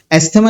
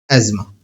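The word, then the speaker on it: asthma: एस्थेमा नहीं कहते बेटा एज्मा प्रोनाउंस करते हैं। एज्मा। ठीक है? मैं कोई बर्गर बनने की कोशिश नहीं कर रहा हूं। लेकिन इसको मेडिकल वर्ल्ड में एज्मा ही कहते हैं।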